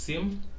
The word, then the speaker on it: SIEM: is a Sim pronounced Sim yes pronounce him combines both security information